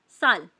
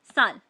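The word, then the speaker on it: 쌀: संशयत तो हम लोग उसे थोड़ा स्ट्रांगली प्रोनाउंस करेंगे।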